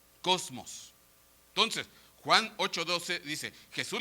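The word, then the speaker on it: κόσμος: la concordancia stron el la palabra griego 2889 que literalmente se se se pronuncia Cosmos entonces Juan 88:12 dice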